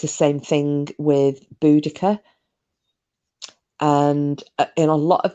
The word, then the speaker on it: Boudicca: um and then uh boudicca well you might know of some people call a but the the proper way to say your name is boudicca and about everything that